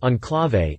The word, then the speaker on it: Enclave: as a 2008 model the name is pronounced on clave and loosely means to